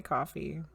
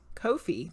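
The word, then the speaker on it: Ko-fi: I can't pronounce anything priest is the Wonderland told us how to pronounce it and you forgot it again they did it on purpose to get people debating on how to say it coffee Kofi that's what it was Kofi Kofi or coffee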